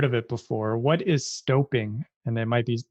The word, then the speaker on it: stoping: it before what is stoping and it might be I assume it's not stopping but I you you are correct it is uh the proper pronunciation is stoping so stooping is the